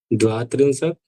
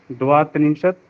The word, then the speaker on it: द्वात्रिंशत्: तो एक त्रिंशत, द्वात्रिंशत, जहाँ थोड़ा परिवर्तन आया वहां ये लिख दिए हैं, बाकी सामान्य चलेगा। तो 31 बोलिए। द्वात्रिंशत् त्रयस्त्रिंशत् चतुस्त्रिंशत् पंचत्रिंशत् षड्त्रिंशत् इसमें सप्त डा को